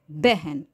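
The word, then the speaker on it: बहन: அந்த பகன் அப்படின்னு எழுதுவோம் பட் உச்சரிக்கிறது அதாவது குறியிலா இருக்கணும் பேன்னு சொல்லிடக்கூடாது பெஹன் அந்த மாதிரிதான் உச்சரிக்கணும் மெஹல் மெஹக் அப்படி அந்த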